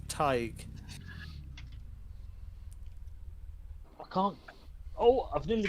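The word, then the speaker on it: Tadhg: And the one before that is pronounced Tig.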